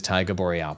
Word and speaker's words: Taiga Boreal: It is Taiga Boreal. Perfect. I'm Yes. American. Americans are terrible at pronunciations.